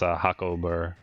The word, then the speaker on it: Jacob: has a different pronunciation the j's are h's like my name's jacob and it's pronounced hakober hakobo if you want